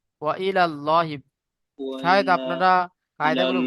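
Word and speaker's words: وإلى الله: ওয়া ইলাল্লাহি লাহি তাও ভুল হচ্ছে, ওয়া ওয়া ইলাল ইল লাহি নয়, ওয়া ইলাল্লাহি।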